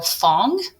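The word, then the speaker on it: Phong: to say this name ph technically is an f sound so fong interesting fong told his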